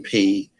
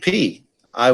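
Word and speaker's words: π: if we were Greek, if we were speaking Greek right now, when I pronounce this letter, it would sound like P. I wouldn't pronounce it pi in Greek. I would look at this letter and call it P.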